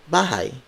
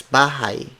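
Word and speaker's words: bahay: bahai word for word it's Gollum Akko sir bhai Colleen spelled as gee al I ng it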